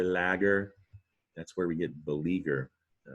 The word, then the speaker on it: beleaguer: that's where we get beleaguer all right it made its way into english as believer the you and beleaguer this is the tricky part here that is a silent you the leaguer uh g